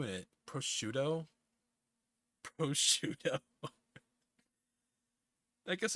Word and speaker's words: prosciutto: But no, again, butter ham is prosciutto caldo, prosciutto crudo, this stuff.